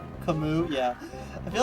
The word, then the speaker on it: Camus: Also, I said Cam. I think I called him Cam. It's technically pronounced Camus.